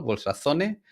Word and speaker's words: Bolsa Zone: bolsone bolson sí Bueno la verdad es que he escuchado las dos pronunciaciones no porque eh algunos lo pronuncian muy españolizado bolsazone y a mí me gusta decir bols bols zón no e que eh A